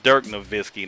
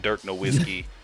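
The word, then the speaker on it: Nowitzki: say that man's name it's Dirk naisy not Dirk niskey Dirk niskey with the cuz it's it's a w but German people spell it the W with a V man like I learned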